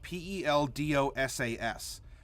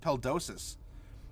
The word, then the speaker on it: Peldosa: It was called Suf Peldosa, but it was Peldosas. But you don't pronounce the end of it that way. And so when I was presenting the map to everyone, they said, "So what's this Suf Peldosas?"